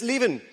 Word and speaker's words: Lieven: My name is Lieven.